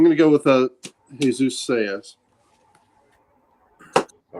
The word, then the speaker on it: Saiz: And for the artist, I'm going to go with Jesus Saiz. S-A-I-Z. How are we going to pronounce that?